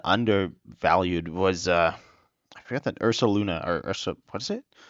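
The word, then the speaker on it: Ursaluna: Ironically, one of the cards I might have undervalued was I forgot that Ursa Luna or Ursa. What is it? I think it's Ursa Luna, but I always say it wrong.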